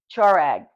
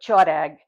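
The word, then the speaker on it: choereg: the toag it's a it's spelled ch h o o r e g chag basically but chag and um my grandmother would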